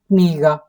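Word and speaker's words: книга: Kniga.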